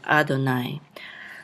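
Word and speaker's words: אֲדֹנָי: And here, this is an abbreviation for the name of the Creator, Yod He Vav He, and we just put Yod Yod to remind us to just say Adonai.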